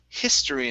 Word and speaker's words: history: First up, we have the word history instead of history. Okay, give me a short I here.